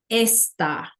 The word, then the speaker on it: esta: The only difference in spelling here is the fact that this word está has the accent over the A, right? So it's donde está, esta. So you can hear a difference in pronunciation, but it also changes the meaning.